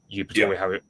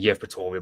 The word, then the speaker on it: Yevpatoria: area of Yevpatoria or Eupatoria. I'm going to pronounce it Yevpatoria, but that's how the Russians will say it in their language, whereas we spell it differently because Fair enough.